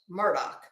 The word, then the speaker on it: Murdaugh: from before the trial even started that it's pronounced Murdoch so that's what I'm gonna say Alex Murdock